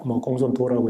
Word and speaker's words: 공손탁: 조금 지나서 부여의 역사에 대해서 부여는 본래 현토군에 속하였는데 한나라 말년에 공손탁, 공손도라고 읽기도 합니다만 이 해동에서 세력을 확장하여